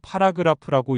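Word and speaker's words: Paragraph: 독일어로 파라그라프라고 읽습니다.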